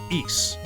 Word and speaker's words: Ys: know an oath so you pronounce it East like geese without the G yep also spervis